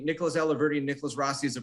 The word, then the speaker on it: Alahverdian: Now, previously, he has pronounced it right. Alahverdian. But he was just like, Mr. Alahverdian.